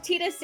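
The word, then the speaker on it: Tidus: can go either way two two games say tetus one game says Titus therefore it is pronounced tetus and you cannot tell me otherwise I think it can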